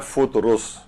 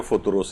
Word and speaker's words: فطرس: بہت سے لوگ اسے فطرس کہتے ہیں، بہت سے لوگ فطرس کہتے ہیں. اصل اس کا زیادہ صحیح اور مناسب ہے وہ ہے فطرس. فطرس بھی پڑھتے ہیں لوگ، لیکن اصل جو تلفظ ہے وہ فطرس ہے. اور فطرسی کے عنوان سے بہت سی کتابیں بھی لکھی گئی ہیں، تو دو فے کے اوپر بھی پیش ہے اور رے